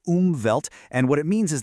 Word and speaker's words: Umwelt: A concept called the umvelt. It's a German word. You say it like oovelt.